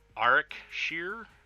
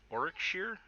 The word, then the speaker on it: Warwickshire: So you say Arwickshire? Warwickshire? Warwickshire? Through the window. If I were in a truck, I would. Interesting. Oh, I see. The middle W is silent.